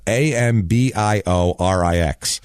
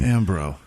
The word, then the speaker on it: Ambiorix: it for you here I can pronounce it but I'll spell it a m b i o r IX is his first name ambro no it's uh ambiorix actually ambiorix that's that's a full